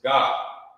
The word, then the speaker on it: Gad: It's not God, da, it's God. Right. So you would connect them to when you're writing it, so the person reading can know it's saying God and not God, da.